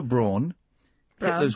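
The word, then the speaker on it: Braun: pronounce it wrong then it's pronounced Brawn either Brawn yeah but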